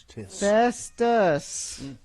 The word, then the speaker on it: Festus: Every letter in his name is pronounced.